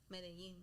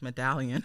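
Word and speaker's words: Medellín: Medellin. Because we would have been like medallion.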